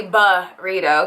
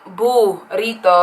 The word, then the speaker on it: burrito: perfect like burrito in english we say ba rito because the u can sound like a uh right um but in spanish it's going to be boo rito okay it's always going to be a long u so i think you